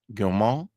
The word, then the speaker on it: Gaumont: Frederick Gaumont. I hope I said that right. The T is silent on the end.